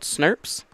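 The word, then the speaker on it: snRNP: special rnp complexes called snurps small nuclear ribonuclear proteins which i know this does not look like it should be pronounced snurp but trust me it is it's also got dozens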